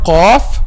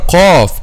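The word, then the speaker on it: قاف: Okay, so if you pronounce letter qaf a light letter, it will change the meaning, and this is one of the common mistakes also.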